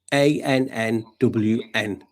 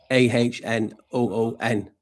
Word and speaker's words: Annwn: White Hounds of Annwn, and it's pronounced ANNWN, but phonetically and how you pronounce it, as I think it is because I've checked, is Annwn, AHNOON, Annwn. Sounds like Atum, doesn't it?